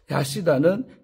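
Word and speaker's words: חסידה: 모세의 율법에서 학은 우리 학이 이제 하시다라고 히브리어로 발음하는데 하시다는 부정적인 동물로 분류가 됩니다.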